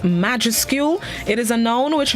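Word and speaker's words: majuscule: the day this morning is spelled m-a-j-u-s-c-u-l-e pronounced majescule it is a known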